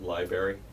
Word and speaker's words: library: mhm uh it's pronounced library library I know that see the extra R I think was probably